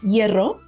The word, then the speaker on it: hierro: Humo, smoke, and hierro, iron, are examples of the silent H at the beginning.